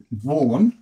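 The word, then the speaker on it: Vaughan: n n and E now some letters are silent in English in the surname vau which look sounds like that vau is spelled the Au u g h a n you got this part here which is not in the sounding of it so Ivon sounds like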